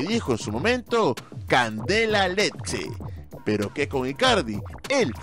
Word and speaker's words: Lecce: su opido en realidad no se pronuncia leche sino leche tampoco es rosarina sino